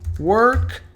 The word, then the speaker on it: worked: Algum desses verbos termina com D ou com T? Não. Isso significa que o E não será pronunciado. Então o work, quando colocado no passado, ele vai soar como worked, worked.